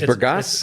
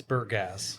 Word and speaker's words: Bergasse: It's Bergasse. It's Bergasse, okay. Bergasse. Just Bergasse, okay. Burr and gas. All right, I'm going to just cross the E out here, and I think I can say it right from now on.